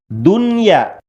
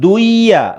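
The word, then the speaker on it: دنيا: Dunya. Dunya bukan duya, bukan, tapi dunya. Kemudian bunya.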